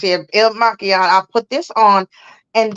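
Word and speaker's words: Il Makiage: I will put on my concealer, Il Mileage, I think it's pronounced. Oh, maquillage. Yeah, Yeah. maquillage. Okay, pronounce it. Il Maquillage.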